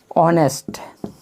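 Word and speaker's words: honest: लेकिन अब हम शुरू करते हैं फिर ऑनेस्ट, ऑनेस्ट, ये चूंकि कॉन्सोनेंट से शुरू है, एच से शुरू है, लेकिन इसका उच्चारण जो है, प्रोनाउंसिएशन है वो है ऑनेस्ट, ऑनेस्ट।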